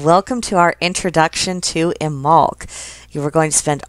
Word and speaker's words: Imbolc: It is pronounced Imbolc, not Imbolc. And for that, I have the authority of all of the books in my bookcase behind me. Whenever one of the books makes a point to specify the pronunciation, it's always stated that the B is actually silent and that it is Imbolc.